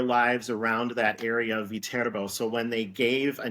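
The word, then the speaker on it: Viterbo: um it's the name of the university is pronounced vbo vbo it originates from a small city in Italy um there is a city named vbo uh and the the institution is located in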